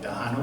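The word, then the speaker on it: Tejano: here in San Antonio a former dance called Dano dancing you ever heard of that no it's spelled t e j a n o and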